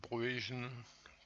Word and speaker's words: Bruijn: Il s'agit de suite de Bruijn, prononcée à la néerlandaise.